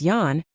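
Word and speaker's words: 四: is synonymous with death it is pronounced she which is also how the word for death is pronounced there is also another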